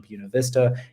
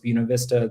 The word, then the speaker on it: Buena Vista: sure you check out these showers in downtown Buena Vista and know that it's pronounced Buena Vista that if you get there and you say